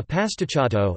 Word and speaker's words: pasticciotto: a pastachato italian pronunciation pah.stit.to plural pastachati is a type of